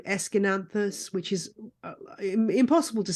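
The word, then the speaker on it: Aeschynanthus: particular thing for um a trailing plant called esin anthus which is impossible to say when you see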